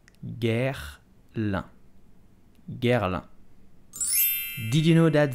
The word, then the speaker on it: Guerlain: So how do you pronounce it? You will simply say Guerlain. Guerlain. Guerlain.